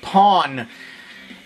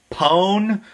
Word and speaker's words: pwn: figure that out, but Pawn, originally it was supposed to be Pawn, P-W-N, you know, as in like the internet thing, but someone said that it's not pronounced pawn, it's pone, and I am not going near that war.